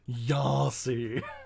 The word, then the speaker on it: Yasi: which I do have to say rhymes with Darcy, and every time you say it, my ears flinch. Yasi.